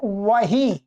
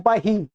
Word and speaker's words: वही: एक है वही, इसको लोग क्या बोलते हैं, बही, इस व के स्थान में क्या बोल देते हैं, बही, बही बोलते हैं, भाई बही है? वही नहीं बोलते, बही, वही का अर्थ